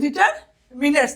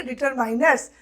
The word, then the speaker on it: determiners: डिटरमिनर्स, the correct pronunciation is डिटरमिनर्स, ना कि डिटरमाइनर्स।